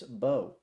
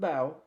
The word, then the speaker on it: Mbow: Makers right tackle Marcus Bo uh it is pronounced Bo not bow. I was going to come on here and and say bao before I did my research.